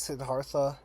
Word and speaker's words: Siddhartha: guys could see in the title, is called Siddhartha or Siddhartha. I've been saying Siddhartha, but like when I read the audiobook was saying Siddhartha. But yeah, I'm pretty sure it's Siddhartha, so we're gonna go with that one.